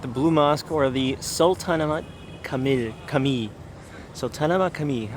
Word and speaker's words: Sultanahmet: This is how you pronounce the uh It's called Sultanahmet. Sultanahmet.